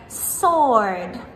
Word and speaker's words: sword: Category 3, the silent W. Words like sword, I fight with my sword, or answer, give me the answer, or right, or to, right?